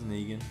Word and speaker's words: Negan: I can never pronounce his name. I don't know whether it's Negan or Negan. It's Negan.